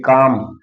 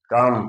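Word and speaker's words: calm: यल के बाद यम आता है तो यल का उच्चारण नहीं होता।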